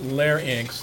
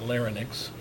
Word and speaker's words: larynx: the larynx itself and it's pronounced layer inks not larynx is a voice box